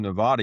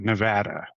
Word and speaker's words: Nevada: I gota I guess I need to come out to Nevada. You know, Tools talking about playing at Well, first you got to call it Nevada because that's how that's pronounced.